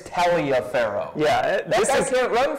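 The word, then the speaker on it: Taliaferro: in the pregame Lorenzo taroh yeah I thought it was Taro but apparently it's tell a pharaoh yeah that guy can't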